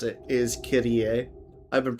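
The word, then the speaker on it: Kirie: Actually, the way she pronounced it is Kyrie. I've been pronouncing it wrong this entire time.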